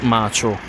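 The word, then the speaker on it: Maccio: Nobody will understand this reference because it is in Italian from an Italian comedian, which is Macho Capatonda. Not macho, macho. And it's spelled quite differently.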